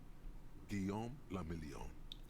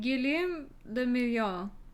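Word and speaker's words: Guillaume le Million: meant only one thing guillaume lamillion is this a french game if it doesn't rhyme you're not pronouncing it right what gilliam the million how does that rhyme out of the dazzling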